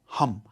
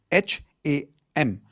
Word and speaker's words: Ham: The fifth chakra is your throat chakra which is sound of hum. H a m. It's not ham. Okay. It's hum like how you would say h u m.